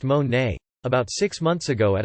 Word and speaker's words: Monet: graduation age 17 party and jessica met monet pronounced mon nay about six months ago at a small gathering